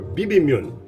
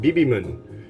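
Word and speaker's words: 비빔면: bbmin is uh and i always say it wrong it's bibimene or bibimyun i always call it bibimon and it's not it's like m-y-e-o-n would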